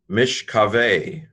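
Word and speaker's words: משכבי: Mishkave, mem, hirik, sheen, silent schwa. The syllable is closed. Remember, when you have 2 shvas next to each other, the first one is silent, finishing the first syllable. The second is vocal, beginning the second.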